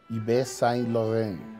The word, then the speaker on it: Yves Saint Laurent: es and the me lo metía yves saint laurent pero esas soul walter van de verdad